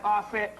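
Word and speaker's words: Auset: Yeah, that's Aset.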